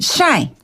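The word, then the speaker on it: 晒: 그다음에 햇볕을 죄다라고 할 때는 샤이. 샤이. 한 번 더 샤이. 어, 그 샤인 같아요. 햇볕. 샤이니. 뭐 이런 느낌. 그 샤인과 발음이 비슷한데 뒤에는인 이런 거 없고요. 그냥 샤이 예 샤이샤 샤이샤이샤이 샤이 샤샤 또 또 랩하고 싶으시군요.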